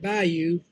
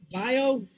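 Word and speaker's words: Bayou: and Blake probably does I always called it byou but it's bio Academy in Cleveland I never knew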